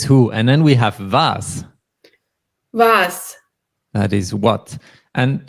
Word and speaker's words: was: is that is who and then we have vas was that is what and the next is